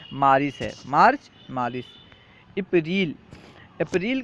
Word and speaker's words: مارس: ہیں مارس، فارسی میں سے مراد یعنی فارسی تلفظ مارس ہے، مارچ، مارس۔ اپریل، اپریل کا فارسی تلفظ